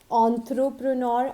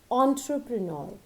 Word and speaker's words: entrepreneur: It is not entrepreneur or entrepreneur. It is always entrepreneur.